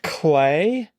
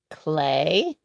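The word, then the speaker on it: Klee: L E 15 across the Swissborn artist whose name sounds like an art medium. Clay. Clay.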